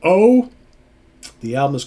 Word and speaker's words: OU: the band is called o the album is called O2 Frailty so the second album to Frailty and the band name is spelled oh o u otherwise known as o at first I was